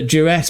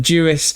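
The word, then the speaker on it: Ďuriš: Not playing under Jurus, but Juris.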